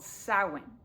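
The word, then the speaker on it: Samhain: The North American holiday that we call Halloween can most closely be traced back to a Celtic festival called Sin, which is spelled like this, but sounds like this.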